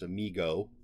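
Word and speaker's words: Mi-Go: anyone who doesn't recognize the creature that is Amigo from that's how I pronounce it's m-i-g-o um there's some interesting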